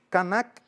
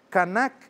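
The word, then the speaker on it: kanak: Canac é com K. Aliás, o a gama é a g a m a. Temos o pantum canac. Canac é k a n a k.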